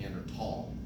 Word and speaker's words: Neanderthal: So the correct way to pronounce it would be Neanderthal, right? Because it comes from the Neander Cape of France.